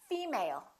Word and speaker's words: female: you say female or did you say female once again it's the first one female let's look at the